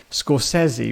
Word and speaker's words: Scorsese: was quite powerful when scori which apparently is how you should say his name stepped out well I